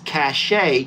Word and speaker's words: cache: Some are saying you say it like cash, like money cash. And there's others who are saying it's cache.